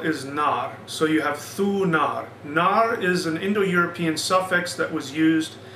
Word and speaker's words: Thunar: But as we said before, Thor is actually a later pronunciation. The original pronunciation was Thunar.